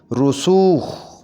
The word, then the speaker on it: رسوخ: صنف نازک، صنف نازک۔ رسوخ، اس کو صحیح کر کے ایسے پڑھیں گے رسوخ، رسوخ۔ زمیندار، صحیح تلفظ اس